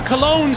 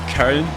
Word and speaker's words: Köln: Lempele scores, the Cologne striker. That's how you say it in English. It's Köln.